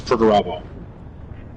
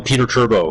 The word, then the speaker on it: Perturbo: So iron warrior's primark is perturbo. Who? Pertoo. What about it though? People call him Peter Turbo cuz it's similar to how it's spelled.